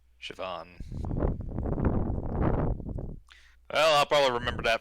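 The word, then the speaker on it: Siobhan: and for those wondering how you pronounce her name it's shavon shavon well I'll probably remember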